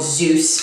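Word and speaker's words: Zose: Sasha tells us that she works for a company called Zeus, spelled Z O S E. Yes, spelled like this.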